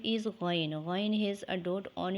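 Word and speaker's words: غ: Ghain is a heavy, gurgling and long sound letter. It is pronounced from the top of the throat.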